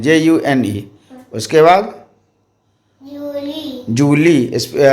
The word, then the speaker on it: Juillet: उसके बाद Julie. जूली, उच्चारण जूली पढ़ा जाता है, लेकिन स्पेलिंग है JUILLET, और इंग्लिश में उसको जुलाई बोलते हैं, JULY।